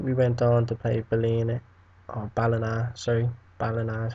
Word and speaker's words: Ballina: But then we went on to play Ballina is how you say it, in the EA Sports second round, EA Sports Cup even, second round.